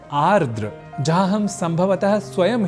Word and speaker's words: आर्द्र: अन्विति कुछ भीगा तो यहां आर्द या आद्र के क्रम में हमने देखा कि हम एक र इस अक्षर को हटा देने का काम उच्चारण और लेखन के समय कर रहे होते हैं बल्कि ऐसा करना होता नहीं है इसलिए आर्द्र यह शब्द ही सर्वथा शुद्ध शब्द है यहां एक बात यह